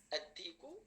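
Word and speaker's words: الديك: So when we give it alif and lam, the lam is silent, and therefore it is a must for us to give it shadda.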